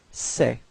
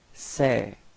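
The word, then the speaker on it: ces: the plural form it's say all right so it's this uh it's open it's a a okay so don't be afraid to open your mouth and it's pronounced like say okay so repeat say all right so let's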